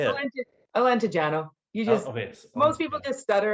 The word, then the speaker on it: Alentejano: Alentejano.